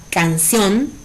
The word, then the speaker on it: canción: Por ejemplo, la palabra canción es una palabra de 2 sílabas, donde su sílaba tónica es la última.